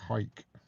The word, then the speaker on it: Howick: I went to a place that I think is in the borders, and it's spelt Howick, but I think they pronounce it Hoik.